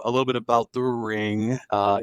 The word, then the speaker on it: Ringu: titled ring in Japan it's ringu I believe that's how you say it um I actually